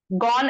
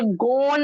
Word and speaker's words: gone: GONE, ये गोन नहीं होगा, ये गॉन, जैसे डन, ये गॉन, है ना, ये भी एक्सेप्शंस में आता है।